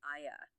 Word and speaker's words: Ia: You've got Theodore of Cyrus, a 5th century bishop, who actually recorded that the Jews pronounced the name specifically as Ia. Right, Aya.